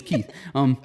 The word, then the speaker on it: Keith: It's not Kiki, it's Keith.